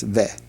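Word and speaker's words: וְ: And then below that is the conjunction and, that's ve. Be pronounced ve. very quickly, since it has a shavah underneath it, it would be ve.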